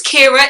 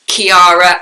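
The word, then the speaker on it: Ciara: pronounced as Kiara and Sara before but I think Irish mean pronunciation Kira if anybody can correct me on that please let me know but I'm pretty sure in Irish it's pronounced Kira so you have the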